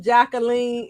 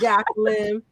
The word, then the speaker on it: Jacqueline: No, her name is not pronounced Jacqueline. It's Jacqueline. Jacqueline. It's okay, but I like it. Yeah, AI says that in the song. Jacqueline. Well, it's the French pronunciation of my name.